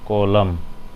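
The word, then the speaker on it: column: English में बोलते हैं कॉलम, एन साइलेंट।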